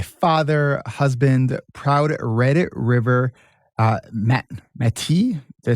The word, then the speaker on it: Métis: Donavan is a father, husband, proud Red River Métis. Did I say it right? Métis? Métis, yeah.